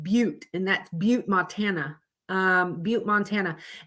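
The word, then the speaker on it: Butte: there could be fluffies because that is actually pronounced but and that's but Montana um but Montana and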